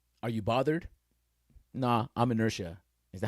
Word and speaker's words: inertia: Inertia. All right. So, how do you say it? Inertia. Inertia. Oh, it's silent. Inertia. A tendency to do nothing or to remain unchanged.